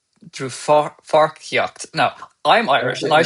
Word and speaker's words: Dlúthpháirtíocht: How do you pronounce that for those who are not Irish? Dlúthpháirtíocht. Dlúthpháirtíocht.